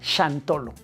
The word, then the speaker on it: Xantolo: Me refiero al shantolo. Shantolo se escribe con x, como si dijeras jantolo o santolo con x, ¿no? Pero se pronuncia chantolo.